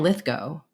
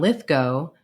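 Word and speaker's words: Lithgow: titled Terror at 20,000 ft in it John litho yes that's pronounced go not GW I was once corrected by the man himself in it John litho plays a man who's a genius when it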